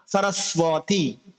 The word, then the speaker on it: সরস্বতী: আমরা অনেকে শিখেছি যে ওয়া উচ্চারণ করতে হয়, হ্যাঁ, তাহলে এটা ভুল, ওয়া উচ্চারণ করা যাবে না। অনেকে যদি বলে, যেমন সরস্বতী বলে ওয়াতি, বফলাকে ওয়া উচ্চারণ করে। এখন এক্ষেত্রে আপনি দ্বিতীয় দর নিচেও তো বফলা রয়েছে, এক্ষেত্রে কি দ্বিতীয়টা কিভাবে উচ্চারণ করবেন? দোয়াতীয় করবেন। তো এক্ষেত্রে সঠিক উচ্চারণ হচ্ছে কোনটা? বফলার উচ্চারণ বফলার মতোই করতে হবে।